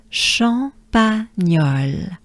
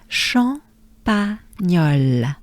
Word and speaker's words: Champagnole: Nyol becomes gnol, gnol. Champagnol. Good breath with me. Champagnol. Yeah. It's not champagne, but it's well, anyway.